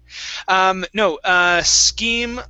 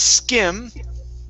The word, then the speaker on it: scheme: Scheme like, whoops. Scheme okay, like sounds this. The same, right? Okay. What you had spelled is the word skim. Okay. Okay, so yeah, this is skim. Uh-huh. This is scheme. Okay. So it's the short I versus the long E.